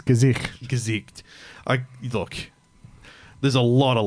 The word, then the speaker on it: Gesicht: It's Gesicht. Look, there's a lot of letters there. I kept calling him Du hast. German for face.